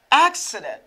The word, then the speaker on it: accident: Accident. Accident. Accept. Je dis accept. Pourquoi ça? Why? Because I have E here after double C. Now I have I here after double C. I pronounce it like X.